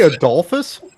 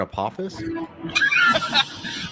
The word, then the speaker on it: Apophis: Did you say Adolphus? Like Adolf and Apophis? I can't explain Hitman's mispronunciation of characters' names, but that's what he came up with for Apophis.